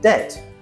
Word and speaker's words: debt: For example, debt d e bt came from the French word debt. D t e. Later we added a b to show it came from Latin, but we still don't say it.